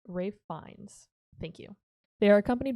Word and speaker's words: Ralph Fiennes: It is not Ralph Fiennes, it is Ralph Fiennes.